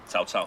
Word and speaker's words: Cao Cao: You also told me that I was pronouncing Cow Cow wrong. Cao Cao. Cao Cao. It's Cao Cao.